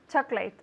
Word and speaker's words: chocolate: chocolate ice cream chocolate chocolate ice cream instead of vanilla ice cream vanilla vanilla yes it's interesting we say chocolate chocolate two syllables chocolate chocolate chocolate chocolate chocolate we don't say chocolate yes chocolate chocolate chocolate